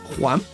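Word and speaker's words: Wham!: Sí, es con una H aspirada muy suave. No es Juan Y ni además, Juan, sino Juan.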